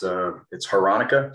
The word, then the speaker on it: Hranica: If you can imagine growing up with this last name, it's been mispronounced a zillion times. It's Hranica.